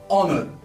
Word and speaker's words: honor: If you spell it or if you pronounce it as if you are starting with the word O, honor.